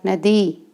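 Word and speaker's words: know: यह है आरआई दूर नदी रिवर क्या होती है नदी आर्ई द रिवर रिवर रिवर में नदी के एन ओ डब्ल्यू नो के होता है साइलेंट होता है यह पहले गया है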